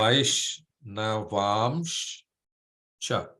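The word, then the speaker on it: vaiṣṇavāṁśca: So you see the first S is a sh. Yeah. Vaishnavamscha.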